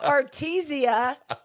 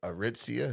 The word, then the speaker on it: Aritzia: I thought it was Artesia, but I think it was Aritzia. Yes, see?